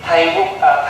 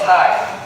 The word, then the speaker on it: Thầy: You say today Thầy was home. Thầy will give a Dhamma talk. They write the word Thay in Vietnamese. They put the bracket T-I-E. So people can pronounce that word Thay.